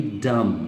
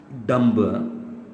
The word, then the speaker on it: dumb: And this should be डम, डम, नॉट डम्ब, that's often mispronounced, okay। This should be dumb।